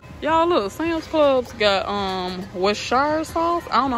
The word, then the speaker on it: Worcestershire: Y'all, look, Sam's Club's got Westshire sauce. I don't know how to say it, y'all, but it's $14.98. I've never seen it big like this. Worcestershire. Wait. Well, who? Worcestershire sauce.